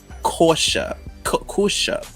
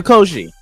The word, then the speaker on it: Koshy: Liza Kosha. I don't know who that is actually. Liza, that's her first name. Oh, Liza Koshy. Thank you. Liza Koshy. Yeah, Liza Koshy.